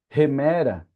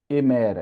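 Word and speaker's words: ἡμέρα: Remera é dia, não é emera, é remera. Porque você vê o espírito voltado para cá.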